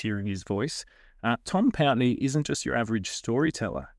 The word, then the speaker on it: Pountney: I'm just happy you pronounced my surname correctly. Well, I'm very That's a good start. I don't think people pronounce it other than that. Get a lot of pney pony which makes all the kids laugh.